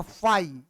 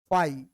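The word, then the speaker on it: phi: क्या, इसको पढ़ते हैं फाई। फाई, फाई इसको पढ़ते हैं, ठीक है। ये जो सिंबल है इस सिंबल का नाम होता है फाई।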